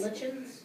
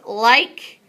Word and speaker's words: lichen: Lichens? Nope. Oh, lesions. Nope. Yes. Lichens. Okay, so it's pronounced like-en.